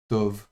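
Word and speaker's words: טוֹב: et puis leem et un B final B fricatif donc sans dagèche et ça ça se prononcera to et to ça veut dire bon.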